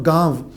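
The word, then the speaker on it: گاؤں: पे हमज़ा और नून गुन्ने के साथ नहीं लिखा जाता बल्कि गा नो पा नो लिखा जाता है और नून पर उल्टी ज़बर उल्टी जज़्म डाली जाती है जिससे पाँव और गाँव इसका जो प्रोनाउंसिएशन बनती है और इमला भी इसकी इसी तरह, जैसे मेरी बात न मानो का मानो, और इसी तरह आपने गानों लिखना है गाँव लिखने के लिए।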